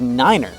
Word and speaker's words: nine: five is f and nine is Niner this whole system is